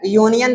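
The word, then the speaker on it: union: यूनियन देखने में vowel है। लेकिन इसको जब हम पढ़ेंगे इसको पढ़ने पर इसका उच्चारण करने पर क्या आएगा? कंसोनेंट। यूनियन जब बोलेंगे तो पहला अक्षर हमारा क्या होगा? य का होगा।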